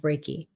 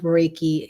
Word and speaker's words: Reiki: to him with the with the help of raiki um oh Lynn you got to finish that